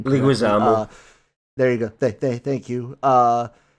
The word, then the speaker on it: Leguizamo: I can't pronounce his name. Leguizamo.